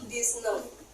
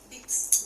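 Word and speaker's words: dix-neuf: dalam bahasa Perancis itu disn Iya X ini bukan dibaca dix Bukan dibaca dix tapi dibaca Z di n kayak n punya biasa kalau untuk snya s-nya enggak usah dibaca tapi diganti G disne Dis disne i disne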